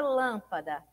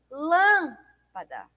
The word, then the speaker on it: lâmpada: Olha só, a palavra lâmpada. Lâmpada. Lâmpada. O lã é mais forte, né? É pronunciado com maior intensidade.